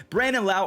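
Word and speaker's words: Brandon Lowe: the older demographic are punching air right now Brandon Lau already has four home runs on the year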